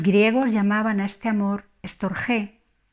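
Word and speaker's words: storgē: llamaban a este amor estor G dos sílabas y la g es fuerte aquí lo llamaré simplemente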